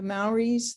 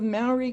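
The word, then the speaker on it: Māori: the maoris the ins english pronunciation is maori but the maoris roll their r's i can't roll my r's so sometimes i say malibu maori but usually i'll say maori because i can't do justice and the marae again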